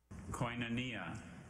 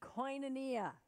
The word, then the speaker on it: Koinonia: took place a few weeks ago let's watch Koinonia Koinonia may have the definition intimate spiritual communion